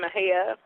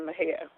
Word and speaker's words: Mexia: In Mexia, Texas, MEXIA, Texas. It sounds a little different than if you spell it out, but yeah, we're located in Mexia.